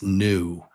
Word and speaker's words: knew: The K, we don't pronounce the K. So it's new.